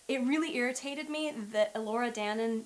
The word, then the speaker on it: Danan: Even though this would have been a legend she grew up with, she should know how to say Elora Danan, not Danan, and it bothered me.